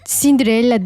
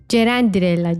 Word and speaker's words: Cerendirella: Bu arada arkadaşlar benim adımı Cinderella diye okuyorsunuz. Cinderella değil Cenderella. Ceren diye okunuyor.